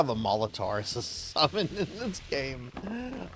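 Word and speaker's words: Maulotaur: Oh, wait, Molitor. Okay. No, yeah, okay, I misread it. No, it's spelled maul as in like to, maul somebody, and then like a minotaur, Molitor, because it's a bull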